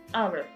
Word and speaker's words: hour: La palabra hour, la hora en español, hour. Esta palabra hour empieza con una consonante H, pero esta H es muda en la pronunciación y por eso vamos